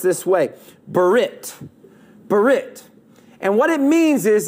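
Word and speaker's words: ברית: an old testament hebrew word that is actually pronounced this way berit berit and what it means is it means a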